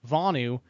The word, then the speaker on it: Vonu: quote Vani means relative physical vulnerability to coercion vaanu Ron's with Sonu so its bony was how it's supposed to be pronounced Tony do you have it yeah so